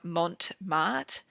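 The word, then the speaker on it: Mont Marte: they're about 10 bucks from Mont Mart I think that's how you pronounce it mo n TM arte they're like a 4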